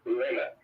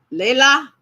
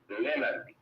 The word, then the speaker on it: Leonard: The first one is Leonard. Leila? Leonard.